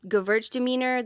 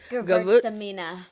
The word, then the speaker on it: Gewürztraminer: But I do like a couple of like sparkling Gewürztraminer.